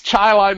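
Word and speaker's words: Chili: l i that's Chile C and it's it's Chilai New yorkut that correct I mean that's that's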